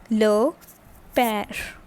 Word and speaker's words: père: Okay, and this produce sounds like, this is basically accent grave, and this produces sound like eh. Alright, so the word becomes le père.